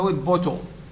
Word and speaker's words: bottle: syllable is made up forget about the e at the end because the e is not sounded the e is not